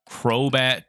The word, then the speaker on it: Crobat: me a crow bat Crobat season where's my encounter there it is Crobat that's not a crowbar it starts with a K even though crowbat starts with the c it's a hard C it is a water